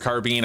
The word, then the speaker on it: carbine: And yes, it's pronounced carbine apparently. I don't know how I feel about that, but allegedly it's a thing. It's like a car made of beans. It's a bean car.